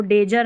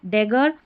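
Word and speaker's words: dagger: इसको डेजर नहीं इसको ट्रीजर नहीं। डेगर और यह है ट्रिगर।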